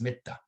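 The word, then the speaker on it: mettā: from the sanskrit word matri in which is pronounced in pali as mitta okay maitreya bodhisattva is living being on the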